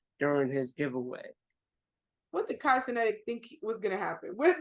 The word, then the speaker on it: Cenat: Yes, I pronounced last name wrong. Cenat.